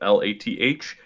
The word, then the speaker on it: Lathliss: Lathalis is how you spell it. LathlIss. LathlIss.